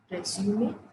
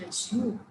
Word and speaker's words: resume: Two ways of pronouncing it, resume and resume. Two ways of pronouncing it, but usually we stick to this one.